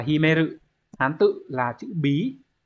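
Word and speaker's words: 秘める: Từ này đọc là Himeru, Hán tự là chữ bí, bí trong từ bí mật Himitsu đấy.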